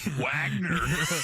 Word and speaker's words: Wagner: Oh, I'm saying it in the English way. Wagner. That's how it's said. Wagner. You can see it sounds German.